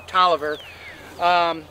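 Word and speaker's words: Taliaferro: by Alexander Galt Oliver looks like Tom Farrow Tolliver we know they pronounce this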